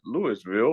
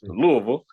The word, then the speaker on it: Louisville: Some people say Lewisville or Louisville. It's Louisville.